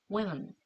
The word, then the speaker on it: women: 만약에 여러 명이다 하는 복수형을 표현하려면 오이 자, 우부터 시작해서 오이 옆으로 벌리면서 맨 women, women 이렇게 발음해야 되겠죠?